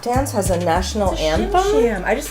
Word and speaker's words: Shim Sham: Shim Sham. I just like to say it. Say it, Shim Sham. Rhymes with Tim Tam, which is a dessert that some people like.